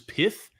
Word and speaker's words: Pyth: think the official pronunciation for this is pith I just don't like that name so I'm G to call it pyth I'm calling it pyth that's that's what I'm doing pith just sounds weird to me so pyth network is